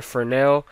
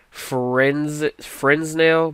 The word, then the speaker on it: Fresnel: and change it to Fresnel. It looks like Fresnel, but it's pronounced Fresnel.